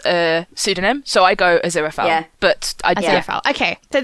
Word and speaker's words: Aziraphale: As a dyslexic, I'm like, I say Aziraphale. I say Aziraphale. Aziraphale.